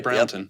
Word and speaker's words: Brownton: And so here I am now up at your shop in Brownton, Minnesota. Did I pronounce that right? Yep, you got it right. Brownton.